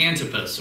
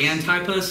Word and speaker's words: Antipas: know much about him and Antipas or Antipas and I pronounce it how you would say Antipas is probably the closest but whoever it was